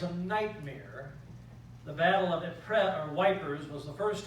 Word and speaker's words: Ypres: which is in Belgium, it's spelled Y-P-R-E-S, Ypres, French word. The Allies referred to it as wipers because it looks more like it would spell the word wipers.